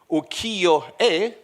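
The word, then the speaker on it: ukiyo-e: societies in this uh how do you pronunce it ukio great good pronunciation I tried many times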